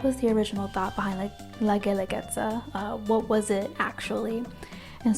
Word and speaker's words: Guelaguetza: But when the Spanish came, when colonization occurred, the Spanish called it La Guelaguetza because it was easier to pronounce in Spanish, La Guelaguetza, than Gendeletza.